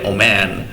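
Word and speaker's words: woman: রাজা কুইন মানে রানী তো ম্যান থেকে হবে ওম্যান ঠিক আছে উচ্চারণ হবে ওম্যান ঠিক আছে সিঙ্গুলার হলে ওম্যান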